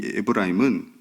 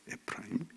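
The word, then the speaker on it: אפרים: 그래서 요셉 둘째 아들 이름 이 에브라임은 원래 발음은 에프라임입니다. 에프라임.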